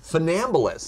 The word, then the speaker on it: funambulist: How do I pronounce it? Second word. Funambulist. Funambulist.